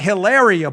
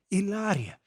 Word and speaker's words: Hilaria: how to correct me it's not hilaria baldwin it's uh how do you say that paula is actually a native spanish ilaria silent h illario check this out very